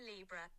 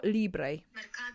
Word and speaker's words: Libre: we go Lee should I look up a pronunciation maard Libra oh that's very English pronunciation Mado Libra I